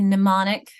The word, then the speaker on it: mnemonic: It's a sign and but isn't it interesting that at the beginning it's a silent M and mnemonic, but at the end it's a silent M and and column.